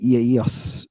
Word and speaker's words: Eos: an interesting word right EOS EOS right you don't you don't pronounce those vowels as a diff thong EOS and what does it